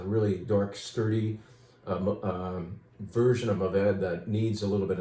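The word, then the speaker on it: Mourvèdre: of those perhaps, so why don't we say Mourvedre, or Mourvedre, if you want me to pronounce it that way. 100% Mourvedre, that for me reminds me a bit of Bandol.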